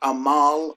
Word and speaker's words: Amal: Clooney's wife right here Amahl spelled like a mall a mall this is like a French name whether a male you